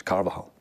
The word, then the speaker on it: Carvajal: there's a guy called woman Cavell yours yeah Carvajal carvajal Carvahall it's not kind of a hollow you it's anybody pronouncing it right on the local scene listen Scott speak the Screamers English so it's carbajal karva well I'm gonna have to practice this